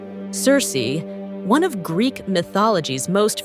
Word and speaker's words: Circe: would actually be pronounced Kirky but for Simplicity and familiarity I'll be using the more common English pronunciation Cersei Cersei one of Greek mythology's